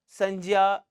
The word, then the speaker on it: संज्ञा: भाव के नाम को संजा कहते हैं संजा क्या है से आप लोग संज्ञा कह रहे हैं वो संज्ञा ही है उसका शुद्ध उच्चारण संजा होता है इसी तरीके से जिसे